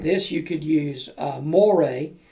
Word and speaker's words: moire: If you didn't use fabric like this, you could use moire. That's spelled M-O-I-R-E. It's French, I guess.